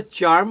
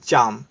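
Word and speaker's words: charm: होता है कशिश खिंचाव इसको या तो चर्म बोले या तो चाम चाम ब्रिटिश दोनों तरफ प्रोनाउंस कर सकते हैं जैसे आपको अच्छा लगे अरब इसे अन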